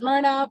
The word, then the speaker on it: Mna: who I was uh my name is Mna pronounced it's spelled my RNA but it's pronounced Mna um and I am the